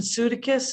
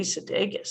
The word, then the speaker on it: Sudeikis: But Jason Sudeikis and Sudeikis, is that how you pronounce it? That can't be Sudeikis? right. Yeah, it's going to be Sudeikis. That's not going to be Sudeikis. I'm going to call it Sudeikis.